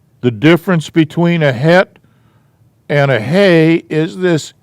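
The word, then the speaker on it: chet: g sound this is has a throat clearing sound like the word bach the composer guy and it's called a hat c-h-e-t hat this is a hay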